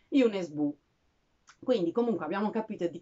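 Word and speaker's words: Jo Nesbø: molto amato che forse conoscerete come jo nesbo ma mi sono informata e la pronunciano roretese giusta è une e sbu quindi comunque abbiamo capito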